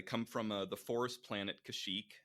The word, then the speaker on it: Kashyyyk: I don't know how to spell his or pronounce his planet. Kashyyyk. Kashyyyk.